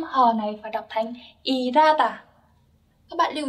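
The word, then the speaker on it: 일하다: Ở đây mình đọc là irata đúng không ạ? Tại vì âm hiếp, chữ hờ là một âm rất nhẹ, cho nên nó thường có xu hướng bị âm khác nối lên.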